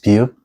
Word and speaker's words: 비읍: And this is 비읍, which is a similar sounds to English B sounds, like 비 or 발.